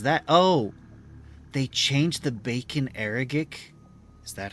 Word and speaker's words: Bacon Agaric: always feel like I botched it the pronunciation bacon agaric bacon Agri okay that's the first time I've ever pronounced it correctly bacon agaric they changed its model the the the nut